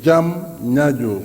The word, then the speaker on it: Diamniadio: de sa ville important c'est si facile c'est diamniadio en deux phases tu veux dire le